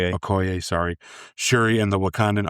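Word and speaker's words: Okoye: Aoy. Aoy, sorry.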